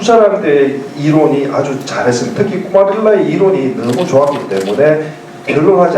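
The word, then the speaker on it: Kumārila: 꾸마릴라라는 사람은 이 뭐 이제 영어식으로 이제 이 사람을 인도식으로 하지 않고 발음한 쿠마릴라라고 해요. K를. 쿠마릴라도 했는데 이 두 사람의 이론이 아주 잘했습니다. 특히 꾸마릴라의 이론이 너무 좋았기 때문에 변론하지 않으면 안 됐습니다.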